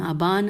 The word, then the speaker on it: آبان: کے نام یہ تھے آبان، آزر، دئی، اچھا ہجے کر لیتے ہیں، الف مدہ بے الف نون آبان، الف مدہ زال رے